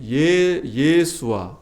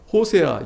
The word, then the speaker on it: 여호수아: 이 여호수아의 발음이 예수아, 호세아, 예수아 이렇게 발음이 돼요.